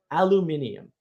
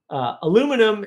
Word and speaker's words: aluminium: Or the best example I can give you is look up the history of the word aluminium and the inability of the United States to say it correctly. Aluminum is not the way you say that word.